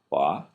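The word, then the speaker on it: וַ: Wa is and. Now notice, each of these verses and phrases starts with wa. Wa, wa, wa, and so forth. Often pronounced va in modern Hebrew.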